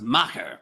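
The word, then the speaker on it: Macher: uh the Mast uh would that be pronounced mâché or or be pronounced mocker because if you look at the fine print underneath it says mocker is Gish for Big Shot ah there we are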